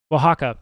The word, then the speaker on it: Oaxaca: I don't think am I pronouncing it correctly? Oaxaca.